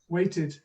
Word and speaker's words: waited: awareness of the syllables the fact there's an extra syllable there waited waited two syllables knocked one syllable anything goes right here's